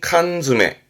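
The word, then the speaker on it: 缶詰: 그래서 발음이 칸즈메 칸메 캔에다가 채워담은 거 그래서 통조림 그 통조림을 칸즈합니다.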